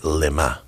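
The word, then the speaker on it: למה: you don't read it lama zaftani, you read it lema. In Hebrew, you could always, the vowels change everything, a couple lines and dots. Lama is why, lema means for what.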